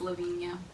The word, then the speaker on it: Lavinia: lunar name is Lavinia it's pronounced Lavinia its lov ini a yeah it's unique feel